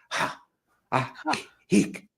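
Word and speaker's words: Ajijic: So 2 J's, they're both silent. They're pronounced in Spanish as Ahihic.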